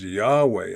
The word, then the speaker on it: Yahweh: when I found uh somebody said, "Oh, it's pronounced Yahweh."